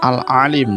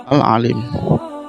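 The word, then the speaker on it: العليم: Bacanya ain, ada suaranya di dalam rongga mulut. Huruf lamnya dibaca panjang karena setelah lam ada huruf ya yang berharokat sukun.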